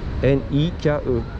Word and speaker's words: Nike: On dit ici N I K E. Le E est prononcé Nike.